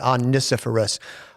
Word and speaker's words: Onesiphorus: We're talking about a guy named Onesiphorus, 5 syllables. Yeah. That's the only way I could remember to pronounce it, Onesiphorus.